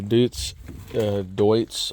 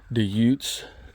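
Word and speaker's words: Deutz: Uh this particular model has a dut de or dutes depending on how you want to pronounce it.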